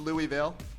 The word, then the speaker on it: Louisville: That's how you say it, by the way. Louisville. Louisville? Louisville. Louisville? Louisville. That was St. Louis. That's the Louis.